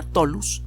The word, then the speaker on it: tholus: en particular se llaman harina tholus toulouse se escribe como suena pero con th la harina solos la